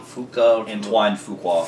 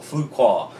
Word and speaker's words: Fuqua: You butchered it in the last video. Can't say his name. Antoine Fuqua. Fuqua.